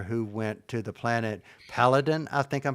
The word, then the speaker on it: Peladon: You know, that reminds me of I believe it was the third Doctor who went to the planet Paladin. I think I'm pronouncing it correctly. Peladon.